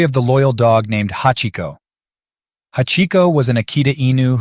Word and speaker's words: hachi: They resembled the kanji that represents the number 8, which in Japanese is pronounced hachi, so he decided to name him Hachiko.